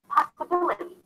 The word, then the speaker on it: possibility: Once I add the suffix, it changes the stress. The placement is changed. So it turns into possibility.